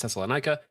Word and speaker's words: Thessalonica: And I've also heard it pronounced Thessalonica.